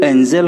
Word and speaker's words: angel: ANGLE एंगल होचे किंतु ANGEL एंजल होचे।